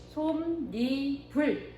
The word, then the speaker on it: 솜이불: 니은 소리가 첨가가 돼. 자, 그래서 어떻게 발음이 된다? 솜, 니, 불 이렇게 발음이 된다는 거죠.